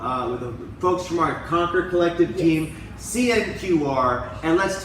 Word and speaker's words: CNQR: We're moving around the globe with the folks from our Conquer Collective team, CNQR, and let's tell you what that stands for. It's not pronounced CNQR, it's pronounced conquer, as in conquer your